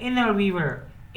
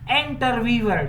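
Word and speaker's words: interviewer: इनर ववर इनर ववर America English में टी जो होता है अक्सर जो एन के बाद आ जाए वो ड्रॉप होता है यानी साइलेंट होता है इंटर ववर ये नहीं इनर ववर द इनर ववर आस्क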